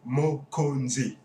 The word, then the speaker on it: Mokonzi: keep reminding you guys if you can't pronounce it yet probably could I think I can only feel sorry for you it's mo kanji mo conde means chief